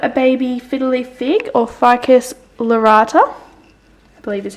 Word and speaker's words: Ficus lyrata: Then I've got a baby fiddly fig, or Ficus lyrata, I believe is how you say it.